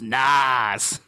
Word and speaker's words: NAS: attached storage these days it's pronounced Nas now how is that